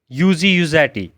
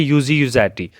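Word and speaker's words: Luigi Luzzatti: इसके बाद दूसरा बंदा है यूजी यूजैटी। एल इसका साइलेंट है दोनों में, इट is pronounced as यूजी, यू से यूजी, जी नहीं पढ़ा जाता, इसको पढ़ा जाता है यूजी यूजैटी।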